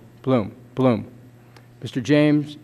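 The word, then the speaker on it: Bloem: Mr James H blohm is that correct the pronunciation bloom bloom Mr James H bloom Mr Bloom is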